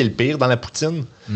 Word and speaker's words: poutine: Fa intéressant Ryan Gosling dit Poutine très très bien. Il est poutine. Dit ça se prononce comme Poutine.